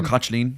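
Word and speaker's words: Caitlín: Or Cochleen. Osquelga. No, it's spelled terribly, but it sounds... it's Cochleen, yeah.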